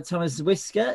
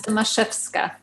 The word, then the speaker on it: Tomaszewska: And it is absolutely great to have Thomas Whisker. Is that, do I pronounce that right? It's always a hard surname to pronounce. No, but it's fine. It's Tomaszewska. Sorry, say it again. Tomaszewska. Tomaszewska, I shall remember that.